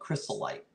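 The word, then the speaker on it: Crystolite: called the crystalite pattern not Crystal Light the drink but crystalite that's how you say it and they are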